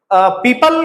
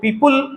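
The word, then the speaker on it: people: का जो प्रोनाउंसिएशन है, बहुत सारे लोग इसको पीपुल उल कह के बोल देते हैं, पीपुल, तो उल नहीं बोलना है, इसका जो करेक्ट प्रोनाउंसिएशन है वो पीपल है, पीपल, अल की तरह से साउंड आएगा।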